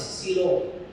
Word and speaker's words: Shiloh: to a place called Shiloh. 我们就去了一个地方， And of course, they pronounce it as Silo.